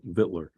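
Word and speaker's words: victualler: And that is the way that 4 different sites said you pronounce it, vittler.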